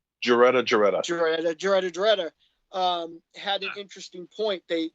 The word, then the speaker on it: Geretta: MZ's there's a documentary called In Search of Darkness, and MZ's friend Greta, I always say her name wrong, Greta. Geretta.